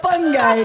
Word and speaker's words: fungi: Oh god, it's fungi. It's a fun guy.